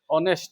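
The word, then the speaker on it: honest: ऑनेस्ट। तो ये ऑनेस्ट यहां पे है कौन? और स्टूडेंट कौन है यहां पे? तो यहां पे कौन आएगा? तो एच यहां पे क्या रहता है? साइलेंट रहता है तो क्या लगाओगे?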